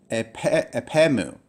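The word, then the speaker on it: ἀπ' ἐμοῦ: And together you would read this as epemu. So you could read this as if it was one word. There are two words, but with the dropping out of the omicron, it really reads very smoothly as epemu, rather than separate words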